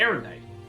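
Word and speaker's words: Aerondight: Aerodite.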